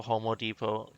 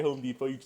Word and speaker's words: Home Depot: was a kid i always called home depot homo depot did i ever say that before that's that's